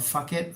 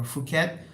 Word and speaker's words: Phuket: used to call it Phuket or Phuket, and I quickly realized, oh, the H is silent in many of the PH words or town names and other names in Thailand.